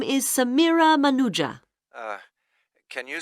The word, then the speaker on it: Manuja: yes of course sorry my name is samira manuja can you spell that please m a n u j a